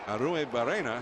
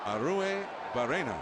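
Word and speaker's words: Arruebarrena: one ball one strike there's a lot of syllables in that name aru barena aru bua and and the two RS you're supposed to really turn you know turn those RS around well give it to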